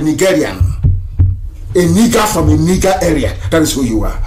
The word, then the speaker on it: Nigeria: The proper name is Niger area, Nigeria.